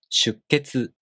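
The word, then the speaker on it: 出血: The sound after a small tsu is the K consonant. You hold the tongue position for the K sound without releasing it and make a pause for one beat.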